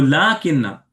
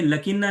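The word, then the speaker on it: لٰكِنَّ: तो लाकिन्ना, इसको हमें लकिन्ना नहीं पढ़ना है, लाकिन्ना पढ़ना है, ठीक है, लाकिन्ना।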